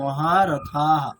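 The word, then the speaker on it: महारथः: তাহলে থয়াকার বিসর্গের উচ্চারণ কিরকম হবে, থহা নাকি থাহা, কিরকম হবে? থাহা, হ্যাঁ থা হবে, থা। তাহলে উচ্চারণটা কিরকম হবে, মহারথাহা, দীর্ঘ হবে না?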